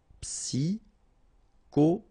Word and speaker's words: psychologique: Okay, remember at the end you get this K. Okay, so ic. and then Y is pronounced like I, psi, and then it's an exception here because normally we should pronounce it sho, okay, but then we pronounce it ko.